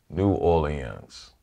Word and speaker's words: New Orleans: a foreigner to pronounce if you think of the French Rhythm o Leon yeah we have the French Rhythm without the French sound new orens so that's the way to think of it New Orleans I thought